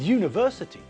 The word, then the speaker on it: university: save an hour with university uniform and European we pronounce all these words with a year sound at the front it's not University it's